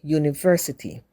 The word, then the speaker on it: university: honor likewise Union and University even though they start with a vowel U they are pronounced with a consonant sound like the Y in U so the article a